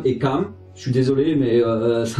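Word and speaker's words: Cám: Et donc voilà, c'est genre là vous avez un accent circonflexe pour Taam et un accent aigu ce qui donne Kaam. Pour la suite de l'histoire, je vais prononcer Taam et Kaam.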